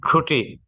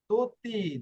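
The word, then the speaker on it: tutti: রোমান্টিকে হ্যাঁ দি দি ঠুটি তুতি, দি টুটি না, তুতি, তুতি এখানে তর উচ্চারণ করবে, তুতি শব্দ টি না, তুতি।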